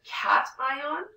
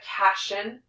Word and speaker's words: cation: We can make what's called a cation or an anion. So listen to how I pronounce these. This is a cation and an anion. It's not a casion and it's not an anion.